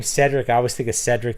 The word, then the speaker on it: Cedric: of Cedric the Entertainer it's originally pronounced Kedrick it's Celtic name Kedrick right what about a